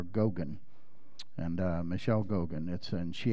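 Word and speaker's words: Geoghan: It's pronounced Gogan, I think, or Gogan.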